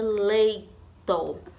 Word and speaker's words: leito: E temos aqui a palavra leito. Leito. Qual foi a sílaba que a tia mais falou? Foi o lei. Então, a sílaba tônica do leito é lei, certo?